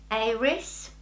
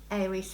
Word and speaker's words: Eiris: So I have been sent another watch from a company called Aries. It's spelled E-I-R-I-S. They say that this is fun play on the word iris, you know, the flower.